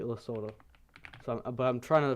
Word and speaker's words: Lesotho: Lesotho. I think it's supposed to be pronounced like Lesotho, not Lesotho. That's what I heard. I used to pronounce it like Lesotho, so but I'm trying to pronounce like Lesotho right now.